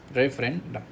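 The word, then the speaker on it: referendum: है जनमत संग्रह वाला रेफरेंडम रेफेरेंडम रेफरेंडम नॉट रेफरी इट्स रेफेरेंडम बस बोलो रेफेरेंडम नहीं तो फिर आर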